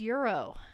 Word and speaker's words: gyro: Gyro? How the hell do you say it? I call it a gyro. It's euro. Euro.